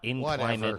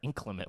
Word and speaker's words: inclement: It's not in climate weather. Inclement weather.